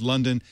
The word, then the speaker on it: Lunden: Well, Ingrid London, I want to thank you for skipping lunch to join us here.